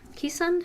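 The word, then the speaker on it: Keeshond: a Spitz breed, and Alicia's dog is a Keesund. Is that how you say it, Tom? Keesund?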